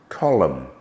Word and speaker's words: column: calm chalk Palm salmon some words ending in n do not sound it as in autumn column hym p is silent in